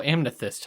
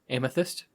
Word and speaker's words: amethyst: the table uh oh amyst huh uh am I mispronouncing that yep oh how are you supposed to say it amethyst wait you say it